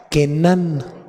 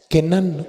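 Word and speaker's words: כנען: novia mercader la raíz hebrea es Kenan Kenan con k acento en la primera a y la parte segunda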